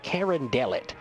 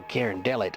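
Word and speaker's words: Carondelet: at me and he says the road called Karen delot I said Karen delot I don't know nothing oh Karen Del it I was like how do you spell that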